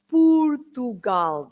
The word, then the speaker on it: Portugal: when you say pugal yeah not Portugal but pugal that's the way you pronounce the word in Portuguese Portugal and P